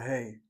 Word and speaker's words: He: alphabet is called the hey letter. Hey letter sounds like your English exclamation as in hey you has nothing to do with hey you at all.